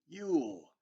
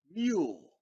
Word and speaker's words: mule: And we've been talking about this silent bossy E, how it makes our vowels say their name. And look at this. You, mule, mule.